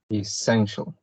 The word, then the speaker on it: essential: And as we can see, this word has 3 sound syllables. So it has 3 syllables. And the stress is in the second one, essential.